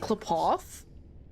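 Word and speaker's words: Qlipoth: That's how you say it, Klapoth? Interesting. The tale of the Astral Express. Klapoth. Okay. It sounds like clip clop when you're like describing a horse.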